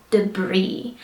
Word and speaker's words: debris: like Det alright so debris does have an S on the end of the word but we do not pronounce it so we just say debris if you're wondering what